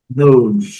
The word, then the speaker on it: known: Known, known. Letra G silenciosa, letra E silenciosa, então a pronúncia é known.